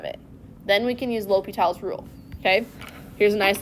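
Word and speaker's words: L'Hôpital: read, it was both L'Hopital's, like, with hospital, but then also, like, with a little accent on the O. So you'll see it both ways, but it's not El Hospital.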